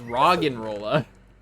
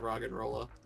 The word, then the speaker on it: Roggenrola: No, it's Roggenrola. No. Well, I've always been pronouncing it Rock and Rolla.